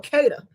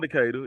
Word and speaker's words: Decatur: is it Decatur or Keda it depends on where you from you know I'm from the south so it's just yeah yeah I'm from Decatur you know it's spelled tour but it's too what I don't even